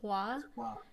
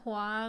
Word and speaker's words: Hua: that is that um in the 1998 version her last name is faw so her name is fox mulan in the 2020 version it's hwa they both mean the same thing just pronounced differently different dialects so they both mean